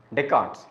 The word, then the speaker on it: Descartes: approaches Champion is deards wrote as Descartes but pronounced as deart deards is the champion of these approaches interactionism